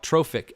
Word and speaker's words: trophic: each trophic level now trophic actually is a word that again means feeding so it's spelled like trough TR o pH but it has an IC at the end so it's trophic it's food related so